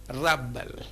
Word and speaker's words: rebel: spelling re be L if it is used as a noun we place the stress on the first syllable and we pronounce the word rubble varutha me was her